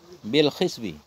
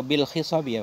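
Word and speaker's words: بالخصب: Bil khisbi atau bil khisabi apa? Bil khisbi. Khisbi bacanya.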